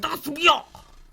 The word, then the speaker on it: Das Bier: I just don't know how to say it angrier Das- because it's German. You know, you're supposed to say Das Bier.